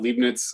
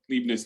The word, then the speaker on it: Leibniz: uh known as um i think people call it leibniz i'm never sure if i'm pronouncing that correctly leibniz notation so newton and this guy